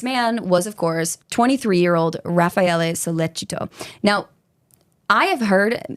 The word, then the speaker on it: Raffaele: would never fucking know it, it should be pronounced Raffaele.